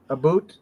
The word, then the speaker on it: about: It's the way most Canadians say, like, take the word about, A-B-O-U-T. A boot? A Canadian would pronounce that a boot, as if you're talking about, that's a boot over there.